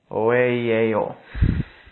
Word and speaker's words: OEIEO: what's representing an energy known as the oo that's basically how it's pronounced uh you're basically just attempting to try to pronounce this without any type of uh consonants that are uh contained within the name so it's basically o and this basically represents our